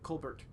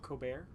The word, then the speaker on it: Colbert: Why don't you pronounce the L in that ever? Colbert. No, not the T, the L. Colbert?